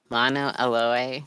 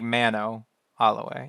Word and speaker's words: Mano Aloe: Mono aloe. It's an A instead of an O. Mano. Like Mano Aloe.